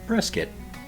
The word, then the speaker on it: Prescott: today I'm looking at why Prescott is pronounced Pres-kitt.